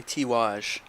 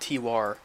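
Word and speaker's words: Tiwaz: Believe it or not, that's actually Tiwaj, not Tiwar.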